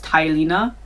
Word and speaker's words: Telena: The character's name is Telena. I think the pronunciation guide says Tylena, but why is it Te then? T-E, sorry, I'm speaking English. Anyway, it's Telena to me.